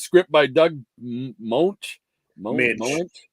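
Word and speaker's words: Moench: Minch. Monch. Minch is the way it's Minch?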